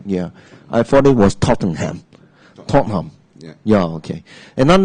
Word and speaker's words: Tottenham: okay what about us is not the H is don't say this again Tottenham oh I I I